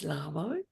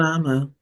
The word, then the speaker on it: Lhamo: The piece that I wanted to say is my name is Lammo. Most people Lama most people don't know how to pronounce it.